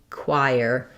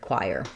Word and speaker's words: choir: But if you're used to the spelling of with these letters and wire this way, then that might be a great way to train your brain and picture the k w ire choir for this word choir.